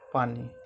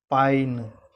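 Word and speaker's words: पानि: ठीक है, पानी नौ पहले आप उच्चारण कर रहे हैं और ई का उच्चारण जो है वो बाद में आ रहा है, जबकि ई पहले लिखा जा रहा है। हर्ष ई है पहले लिखा जा रहा है, ई फिर नौ बाद में लिखा जा रहा है, पर उच्चारण हम करते हैं क्या, पानी, जो कि दोषपूर्ण उच्चारण है। ठीक है, इसका सही उच्चारण होगा पाइन, पाइन।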